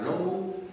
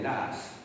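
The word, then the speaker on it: Law: John Lass, hein, L-A-W, je vous ai déjà dit que le L-A-W, comme ça en écossais, ça ne se prononce pas Low, on dit souvent, mais Lass.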